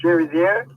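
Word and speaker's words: Chérizier: I believe it's Cherizier. Is that it? Yeah. Anyway. Correct.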